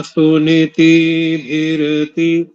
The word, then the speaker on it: सुनीतिभिरति: और एक अंतिम त्रुटि, सुनीति, सुनीति भिरति, सुनीति भिरति, ऐसा इसका शुद्ध उच्चारण होगा।